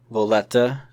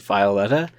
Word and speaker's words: Veta: crew of uh senin Veta yes I did say her name wrong in the last episode as Violeta but that's only because I misread it every single time I read it um Adam iron and